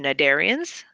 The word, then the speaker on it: cnidarians: more complex are the cnidarians the see in that word is silent these are their jellyfish